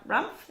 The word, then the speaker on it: Rumpf: I'm going to hopefully I pronounce this right. Emma Rumpf, is that correct? Yep, Rumpf, that's correct.